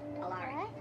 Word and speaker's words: Alaric: You'll probably want to pronounce it Alaric, but it's Alaric, okay?